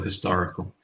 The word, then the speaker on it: historical: it back up historical with this H we have to pronounce it so a historical book we don't say any